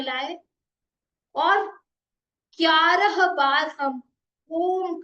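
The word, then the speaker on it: ॐ: दोनों हाथों को ज्ञान मुद्रा में लाए और 11 बार हम ओम का उच्चारण करेंगे। अ उ और म पहले आप मुझे देखें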